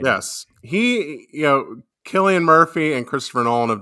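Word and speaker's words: Cillian: he breathing on neck it's Sicilian Murphy isn't it yeah by you know what's funny I I pronounced it that way until I saw this movie and was watching some interview and they said his name killy and I'm like oh I've been saying it wrong all these years yeah again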